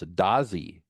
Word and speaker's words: Dadzi: David, actually his name is pronounced, and I did not know this, Dazi, even though it looks like it's spelled Dadzi, right?